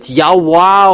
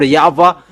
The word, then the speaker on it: Yahweh: we keep it there in Jewish they pronounce W into V and that has been